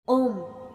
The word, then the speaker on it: ॐ: ओम 3 ध्वनियों अ, उ और म से मिलकर बना है।